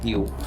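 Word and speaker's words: ewe: अब जैसे एक शब्द है ई डब्ल्यू ई, उच्चारण है यू।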